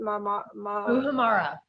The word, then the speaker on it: muhammara: Muhammara.